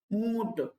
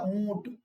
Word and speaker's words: ऊंट: आपसे पूछा जाए तो जब हम उ का उच्चारण करेंगे तो इसमें समय लगेगा ऊंट देखिए ट तो हमने